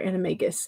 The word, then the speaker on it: Animagus: CB says singular animagus is a hard G.